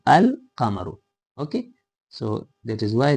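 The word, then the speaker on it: القمر: So we pronounce it al kamaru not a kamaru al kamaru.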